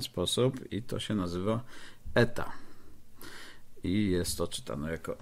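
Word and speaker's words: η: przykład, żeby było jasno, jak dokładnie się wymawia eta. I to się czyta jak Yorkshire man, czyli ech prawie, że albo French pere. No, jest dokładnie e.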